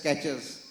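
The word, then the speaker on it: QuEChERS: So, sir has told, I have one that's called QECHERS, quick, easy, cheap, effective and drug safe, is pronounced as catches.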